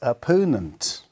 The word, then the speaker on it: opponent: number three is number this opponent o p p o n e n t where we write r Pau nint opponent so stress is in the seconds level so R then Pau and nunt appearance how many syllables there are three syllables and the stress lies on the second right so number four is